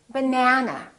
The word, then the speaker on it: banana: That means this vowel is going to be much longer. Repeat, banana, banana. So the a is going to be prolonged.